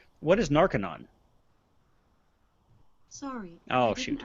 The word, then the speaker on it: Narconon: We should perhaps also point out that this is narco-non with an O, not to be confused with narc-anon, which is different.